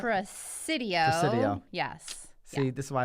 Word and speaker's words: Presidio: Well, I think it's Presidio. Presidio? There's an S-I-D-I-O. Sam, do we have confirmation on that? Presidio.